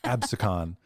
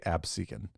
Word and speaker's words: Absecon: and Lighthouse um did you look up that pronunciation yes okay abson that's what I thought when I read it I was like AB I've heard so I watch YouTube videos and people say absin so I'm gonna say epsen today yeah videos